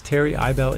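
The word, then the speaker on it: Terry Ibele: name is Terry IBO for all of you who think I made up this name as a pun on the word terrible yes Terry ibel is actually my real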